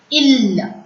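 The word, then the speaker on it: île: I-L-E. I is with the circumflex. The cap mark. Ill. I-L-E is ill.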